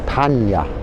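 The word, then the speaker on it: paññā: The next is panya. Panna, it's spelt panya, pronounced, because N is like a Y in some words in Pali.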